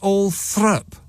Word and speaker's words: Althorp: It's written all thrup. But it's pronounced... No, it's Althorpe, isn't it? Althorp. Correct. But they pronounce it Althrup.